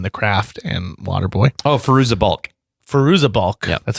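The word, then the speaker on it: Fairuza Balk: to be in the craft and waterboy oh firoozeh bulk firoozeh bulk that's how you say I've been mispronouncing that name for decades but they come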